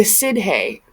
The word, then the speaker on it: Sidhe: In Irish lore, the Sidhe, or Aoshi, pronounced S-H-E-E, were descendants of the pre-Celtic inhabitants of Ireland.